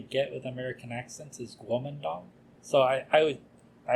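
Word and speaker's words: Kuomintang: often you'll see it in English as the Quang I I don't like to pronounce it like that that's not how you pronounce it in Chinese the closest we can really get with American accents is guong so I I always I always pronounce it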